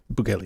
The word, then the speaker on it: Bukele: Bukele? Bukele, yeah. I think it's Bukele.